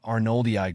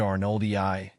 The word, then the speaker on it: arnoldii: The emphasis is on the first syllable of each word, with a slight stress on the E sound in Rafflesia and the AR sound in arnoldii.